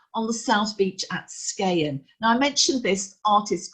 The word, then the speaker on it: Skagen: Group, by the way, in Danish, you shouldn't pronounce the G, and you might recognize it as the brand of a watch as well, Skagen.